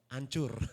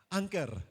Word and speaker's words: anchor: saya minta membacakan ini ada bilang oh hancur oke ada yang bilang ancur gitu ya bapak siapa yang suka minum bir Bintang merek apa Anker That's the way to pronounce it Anker ya so mungkin karena